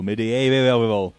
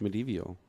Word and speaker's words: medieval: Well, she has been listening to Neil a lot, so medieval. Yep. No, that's not right. Neil, try again. It's medieval. There you go. It still feels like it's got an unnecessary number of syllables.